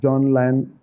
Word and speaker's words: John Lyon: And you were recently the head of prep school at John Lyon in UK. Is that the right pronunciation?